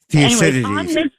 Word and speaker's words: Thucydides: And that's a quote from 500 BC by an Athenian historian and general, I hope I pronounce his name right, Thucydides. Thucydides.